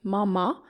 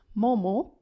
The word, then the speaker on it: Momo: food is Momo Momo you can also see some restaurant write it as Mama but the pronunciation is Momo we have different ways